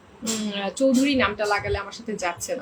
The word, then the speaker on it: চৌধুরী: উচ্চারণ হলো চৌধুরী। কেমনে চৌধুরী হয়? CHY চৌধুরী উচ্চারণ এইভাবে হয়, CHOWDHURY।